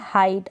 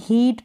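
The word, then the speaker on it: height: अब यहाँ पर आई प्रोनाउंस कर रहे हैं, इसमें हीट प्रोनाउंस नहीं करेंगे, क्योंकि अगर ई आई को यहाँ पर आप बड़ी ई के रूप में प्रोनाउंस कर देंगे तो गलत हो जाएगा।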